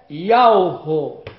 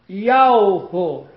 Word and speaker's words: Yahweh: A pronúncia do nome do Pai Criador, aquele que fez o céu, a terra, a fonte das águas, é Yahweh. Yahweh.